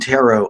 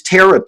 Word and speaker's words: tarot: never really studied very much about dreams and tarot um so let me ask you about which which before somebody corrected me i used to say oh you you use tara cards huh pronounce the t okay tarot um